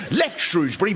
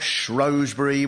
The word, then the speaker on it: Shrewsbury: And of course there's Shrewsbury, not Shrewsbury, set up in opposition. When all this was reported in the Shropshire Star, the first comment from someone called JJ went, "I don't pronounce the R at all and say Shrewsbury."